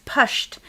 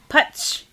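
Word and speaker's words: Putsh: music and then there's pushed and i'm not saying that right putch it's p-u-t-s-h thank you um by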